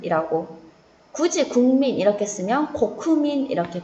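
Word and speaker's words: 国民: 굳이 국민 이렇게 쓰면 고쿠민 이렇게 발음합니다.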